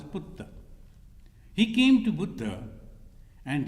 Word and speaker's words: Putta: Putra, and in this pronounced as Putta.